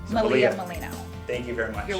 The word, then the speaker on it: Malia Miglino: I'm going to have you say your name Malia Molina thank you very much you're welcome I appreciate